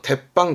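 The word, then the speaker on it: 鉄板: 방이죠 탭방 그 다음에 하가 들어오면 발음이 바뀌어서 대빵 그러잖아요 요런 부분도 맨 처음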